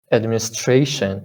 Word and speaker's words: administration: kind of kind of administration you see uh there's the primary service in on is on this syllable administration tradition right putting more